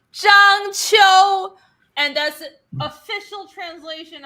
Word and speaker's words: Zhang Qiu: So the surname is reversed, right? Because in Asia, the surname comes first. It's Zhang Qiu. That's how you pronounce it. Zhang Qiu.